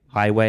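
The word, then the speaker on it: Huawei: And we've we heard a announcement last week with highway highway I think it's pronounced um that they're they're creating their own chips now and you don't want that.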